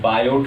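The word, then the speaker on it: Biot: देख रहे हैं कि लिखा हुआ पायोट लिखा हुआ बटर हम लोग पायो तो प्लीज साइलेंट होता है आयोग ए क्वाइट आज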